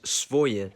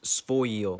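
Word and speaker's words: своё: It's written as svoye, but it's actually pronounced svoyo.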